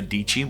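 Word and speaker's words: Dietschy: channel down below is sarah deichi which rhymes with peachy she has some incredible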